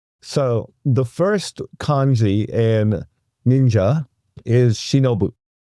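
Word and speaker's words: 忍者: So shi now is pronounced nin and mono is now pronounced ja. And that is how you get ninja, which once again was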